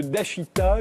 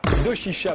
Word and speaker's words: Doshisha: attaché à l'université de Dashita, je l'ai bien prononcé. Doshisha, pardon, à Kyoto, au Japon.